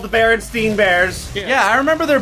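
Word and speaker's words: Berenstain: Like there was an animated adventures and they were I swear to God they were pronounced the Baronstein Bears because they were they were pronounced the Baronstein Bears.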